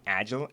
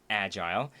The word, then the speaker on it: agile: word correctly I apologize I was saying agile apparently that's not the right pronunciation its agile so far bi is